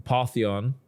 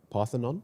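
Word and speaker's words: Parthenon: The Paththeon. Is that how you pronounce it? Paththeon. P. Pathonon. Oh, Pathonon. So, I can read it properly.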